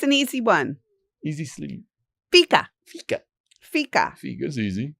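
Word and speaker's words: fika: Fica. Fica. Fica. Fica is easy. It's spelled f i ka and it's a Swedish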